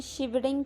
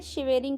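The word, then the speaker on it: shivering: अब देखो कितने लोग यहाँ पे इनकरेक्ट प्रोनाउंस करेंगे. शिवेरिंग कोई बोलेंगे, कोई शिबी बोलेंगे, कोई कुछ भी बोल सकते हैं, बट सही प्रोनाउंसिएशन इसका शिवरिंग होता है.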